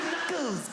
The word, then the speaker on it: knuckles: of all the letters why would a k be silent kles why is it kles Knuckles Knuckles I've been thinking about